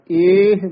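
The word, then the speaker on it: ਏਹ: इड़ी लां हाहा मुक्ता एह इस तरह बोलना है, एह माया मोहनी।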